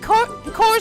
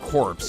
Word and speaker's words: Corpse: It's all thanks to you and Core's woman Cykes. Yeah, it's core woman. Yeah, I knew that you don't pronounce it corpse, you pronounce it core, but I wasn't really